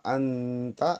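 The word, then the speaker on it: أنت: Fa anta bacaan ikhfa harus samar.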